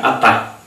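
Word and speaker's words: חטא: seu equivalente verbal chat pronuncia-se aí atá com h aspirado, que literalmente significa errar o alvo.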